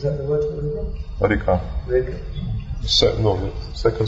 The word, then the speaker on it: Reka: Reka. Second stress syllable.